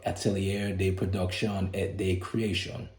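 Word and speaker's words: Atelier de Production et de Création: do with the pronunciation APC is an acronym for Atelier day production at day creation um as you can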